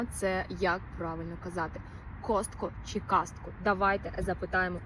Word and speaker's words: Costco: звуку а після с тому варіант кастко неправильний х цікаво А чому тоді більшість каже кастко швидше за все це через те що в українській мові часто вставляють звук а між приголосними Для зручності вимови Деяким людям легше сказати кастко Бо так звучить природніше для розмо мовної мови але в англійській правильна вимова Костко Костко без додаткового а отак Я взагалі спочатку